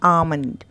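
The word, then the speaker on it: almond: आएगा हमें पढ़ना है अमन अमन ल का उच्चारण यहां पर नहीं करना अमन अमन ब्रेकफास्ट अब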